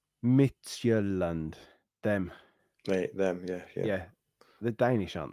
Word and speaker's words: Midtjylland: But before we do, the team it's pronounced Midtjylland.